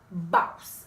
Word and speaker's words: BAWSE: That way you can pronounce it correctly, because it's not boss ladies, it's BAWSE.